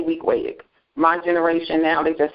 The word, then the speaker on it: Weequahic: Now pronounce that high school for me. Weequahic. Wow, Weequahic High School. Wow, I never guessed that. The older generation is Weequahic.